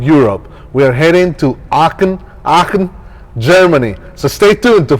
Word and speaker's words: Aachen: So it's a really cool city, Aachen, and it's spelled A-A-C-H-E-N. But the German pronunciation is like Aachen. How do you say it? Aachen.